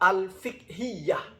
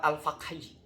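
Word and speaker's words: الفقهية: Seharusnya itu At-Ta'rifat Al-Fiqhiyah. Dia bacanya At-Ta'rifat Al-Faqhiyah.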